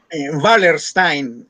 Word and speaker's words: Wallerstein: Wallerstein, que es un apellido alemán.